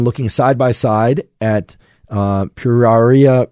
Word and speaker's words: Pueraria: And this one is also particularly difficult to pronounce. And it's Pruraria mirifica. So I'm going to spell this out for you. It's P-U-E-R-A-R-I-A, Pruraria mirifica.